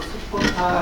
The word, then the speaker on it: 스포타: 그러니까 거의 그대로 사보다라는 것보다도 스포타 하는 것이 또 원음에 가까운 이렇게 원래 발음을 범어를 스포타라고 이렇게 의역을 했어요.